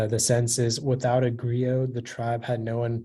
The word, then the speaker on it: griot: Griot, may I have all the information, please? Yeah, so the only pronunciation is griot.